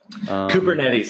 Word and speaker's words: Kubernetes: And what that was, basically this threat actor was brute forcing, how do you pronounce it, Kubernetes? Kubernetes is how you pronounce it.